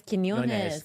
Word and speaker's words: Quiñones: You said it wrong. It's Quinones. Yeah, Frankie Quinones. With a hard K.